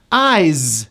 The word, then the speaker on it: eyes: Eyes, same thing. Spelled with an S, pronounced as a Z.